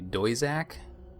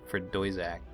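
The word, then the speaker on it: Doisac: So it must be pronounced maybe Doizak? That's Doizak, the Jirlane homeworld planet.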